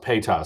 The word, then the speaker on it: PETA: I know there's been bugs and there's been like it's pronounced PETA. Sorry about that. PETA.